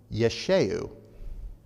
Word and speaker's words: Yeshua: in okay it's pronounced it's this and that's pronounced Yeshua his name is Yeshua if you were to